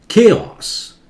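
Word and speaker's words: chaos: ये capacity, capacity बोलिए, केओस, के जोर से केओस. ये केओटिक, ऑट जोर से केओटिक, केओस केओटिक, H silent है.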